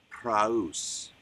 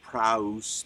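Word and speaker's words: praus: me sir but the word proofs prowse p-r-a-u-s does not mean make as we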